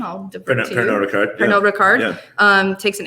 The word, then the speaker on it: Pernod Ricard: But then in the following year, Pernod Ricard, French pronunciation, I'll defer to you. Pernod Ricard.